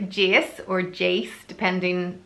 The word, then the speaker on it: Jace: Next is the name Jace or Jace, depending how you pronounce it. In my accent, it's Jace, but it sounds nicer probably as Jace, spelled J-A-C-E, and the meaning of the name is healing.